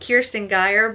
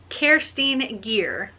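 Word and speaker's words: Kerstin Gier: to look at it i thought it was pronounced kirsten guyer but it's actually pronounced kerstine gear so on thursday i finished sapphire blue by kirsten gear and i'm gonna give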